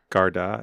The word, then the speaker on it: Garda: Garda is one.